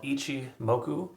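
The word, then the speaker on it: Ichimoku: like some weird word um it's it's called Ichi moku Cloud just so you know um and it's is spelled ICI II m o k h moku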